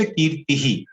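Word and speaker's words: कीर्तिः: विसर्ग का रूल क्या था, फिर से देख लेते हैं। Pronounced as एन इको ऑफ the preceding vowel.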